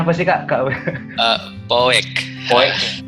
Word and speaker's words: Poek: Bacanya apa sih Kak? Poek. Poek.